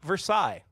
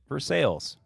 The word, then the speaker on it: Versailles: that is pronounced not Versailles. Even though it is spelled that way, we pronounce it Versailles because it's Kentucky.